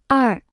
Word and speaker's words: 二: 二，二，二，二，二，二，二。 Se pronuncia con el cuarto tono.